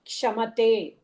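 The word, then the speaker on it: क्षमते: க்ஷமதே. இக்ஷா. See, two letters. It's a samyukta aksharam of kakara and shakara. So iksha, அதனால pronunciationல க்ஷமதே.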